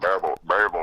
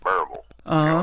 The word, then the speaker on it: Berryville: I think it was 81 or 82 that, and Berryville, Arkansas. Yep. Everybody down here pronounces Berryville.